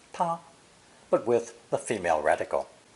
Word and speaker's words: 她: for she and her is also pronounced ta but with the female